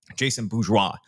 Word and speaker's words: Jason Bourgeois: Jason Bourgeois, I should say. And that is how you pronounce his name.